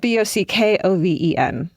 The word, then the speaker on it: Bockoven: Spell it. B O C K O V E N.